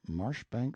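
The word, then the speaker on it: Marjoribanks: Banks sellers vicount Berkeley of chundy Castle Warwickshire pronounced cbri Slover Marshbank sellers vicount Barkley of Chumley Castle warshire he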